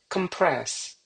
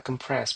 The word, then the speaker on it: compress: Compress ya. Compress bukan compress ya.